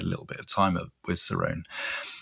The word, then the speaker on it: Cerrone: a composer called Mark Cerrone. And Cerrone is Cerrone is spelled C E R O N E.